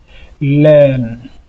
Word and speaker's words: learn: A, R, c'est-à-dire le R ne sera plus considéré dans la prononciation. Donc, nous allons dire ici, learn.